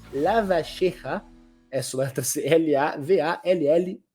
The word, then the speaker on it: Lavalleja: pronunciar, Lavalleja, essa letra L-A-V-A-L-L-E-J-A, então a pronúncia rioplatense seria Juan Antonio Lavalleja, mas enfim, nome difícil.